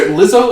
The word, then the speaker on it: Lizzo: I'm trying Lizzo, Lizzo.